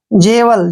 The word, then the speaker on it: jewel: Next word है JEWEL, जे का उच्चारण जय करते हैं, ई को ए की मात्रा पढ़ते हैं, और WE का उच्चारण यहाँ पर वह करेंगे, और एल को ले पढ़ेंगे। जेवल, जेवल होता है रत्न,